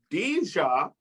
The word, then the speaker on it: Dijah: right ready everyone bang your hands together for dja thank you that's my name no